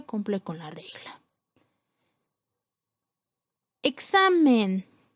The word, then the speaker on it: examen: Examen. La sílaba con mayor fuerza es la penúltima sílaba.